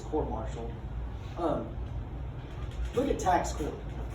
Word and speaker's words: court martial: or maybe court martial yes i said it right not quartz marshall but it's court martial um look at tax